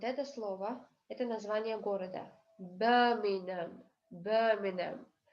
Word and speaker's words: Birmingham: Birmingham. Буква G и буква H не дают здесь звуков.